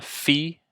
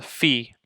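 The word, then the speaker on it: φῖ: e next this is called a fee it makes a like an F sound or a ph sound as in Fox so yeah this is a fee uh c o p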